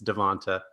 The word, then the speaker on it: DeVonta: watch naji harris and devonta smith i don't care how he pronounces it it's devanta um those guys are just